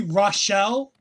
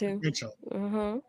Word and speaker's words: Rachel: I I keep wanting to say Rashelle because I feel like there's a letter missing for Rachel, but they did pronounce Rachel.